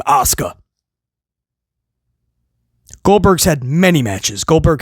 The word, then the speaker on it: Asuka: He just mispronounced her name when he called her Auka that time. Come on, dude. Bro, there's casual wrestling fans that that that know how to pronounce it as Asuka, right?